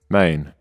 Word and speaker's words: man: Maine, which is a popular way to pronounce the word man in Memphis.